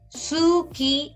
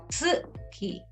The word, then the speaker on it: 月: Okay, it's not suki, it's tsuki.